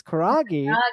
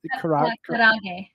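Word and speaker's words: karaage: Did I Karage. karage? Roll the R, kind of karage.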